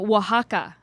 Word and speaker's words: Oaxaca: From Oaxaca. Are you impressed that I knew Is how that to how you pronounce that?